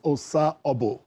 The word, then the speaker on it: Osah: channels book club thank you I hope I pronounced your name well well it's Osa yes that's that's um Benin yeah that's ishan